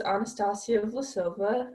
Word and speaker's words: Anastasia Vlasova: So my name is Anastasia Vlasova.